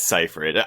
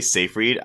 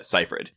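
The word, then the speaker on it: Seyfried: we've got Amanda Cyree I always mispronounce her last name I think it's Cipher I always say CER you had a you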